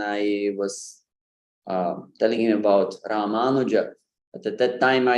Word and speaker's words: Ramanuja: So in fact, the correct pronunciation would be Ramanuja. Ramanuja. That U is really short. I really run through it fast.